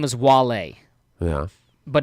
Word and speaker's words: Wale: Now this one's tough because the rapper's name is Wale, Yeah. but it's spelled W-A-L-E, Wale.